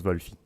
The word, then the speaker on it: Wolfie: Ça se prononce Wolfie. Wolf. Wolfie, Wolfie. mais sans la pause.